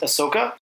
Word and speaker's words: Ahsoka: There was a trailer for, and Bob, you're the Star Wars guy, so I'm going to try my best, Ahsoka.